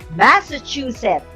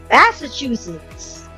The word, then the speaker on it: Massachusetts: have the fifth word some people we say this word as Massachusetts can you guess the correct one here it is Massachusetts here's the definition has